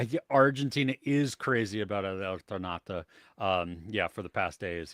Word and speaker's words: Eternauta: How did you pronounce the? You said Eternaut. Yeah, What did you El say? Eternauta.